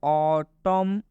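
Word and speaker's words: autumn: example में लिखा है ऑटम एन साइलेंट होता है ऑटम पढ़ेंगे यहां पर एन के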